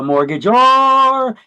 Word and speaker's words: mortgagor: remember this is that it rhymes. The mortgagor is the borrower, right?